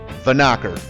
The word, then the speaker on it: Vanocker: And yes, that is how you say it, Vanocker. Vanocker Canyon Road is a